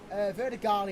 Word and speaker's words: Verdegal: Holland car of Robin Verdequal. I think that's how you pronounce his name again. Verdegal even. Is that the Q origin? No, it's a G. Verdegal.